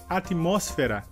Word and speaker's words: atmósfera: Nossa próxima palavra em espanhol seria atmósfera. Em português seria atmosfera. A diferença então seria que em espanhol a sílaba mais forte seria mos e em português a sílaba mais forte seria fé.